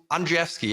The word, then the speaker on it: Andrzejewski: No, we have some really interesting topics to cover with our special guest, Andrzejewski.